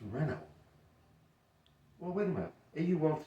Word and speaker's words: Renault: All right, the famous automobile company that Americans say Renault. No, it's Renault.